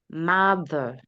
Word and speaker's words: mother: daughter, mother, Do not pastor, make the O sound in mother. Do not make it long.